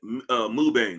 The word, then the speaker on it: Mubane: Mubane. I forgot. Sean, I said your name wrong. I said Mebin. It's Mubane.